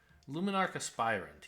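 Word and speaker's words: Luminarch Aspirant: thing oh I just been saying it wrong luminarcospirant yes that's right okay okay no plays I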